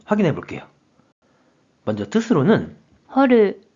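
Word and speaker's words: 掘る: 그럼 이번에는 팔굴에 대한 일본어 발음을 확인해 볼게요. 먼저 뜻으로는 掘る、掘る、 한편 음으로는 靴、靴、 라고 각각 발음해요.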